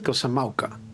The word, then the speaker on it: Kozama'uka: He pronounced it Kozama'uka.